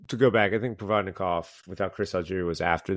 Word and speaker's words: Provodnikov: When he fought Provodnikov, and right, is that how you pronounce his name, Provodnikov?